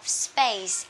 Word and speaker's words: space: And this one, thay vì chúng ta đọc là space, space, thì chúng ta đọc nhẹ cái chữ P, P. So we have space, space.